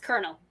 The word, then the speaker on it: Colonel: It's pronounced Colonel. Colonel.